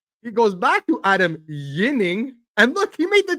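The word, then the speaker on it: Ginning: Because now apparently he wants, I don't know if you guys heard, but he wants to be called Yinning again. With a Y. And then the Y pronunciation.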